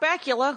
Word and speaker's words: Bakula: Scott Bakula, whose name rhymes with Butt Cracula.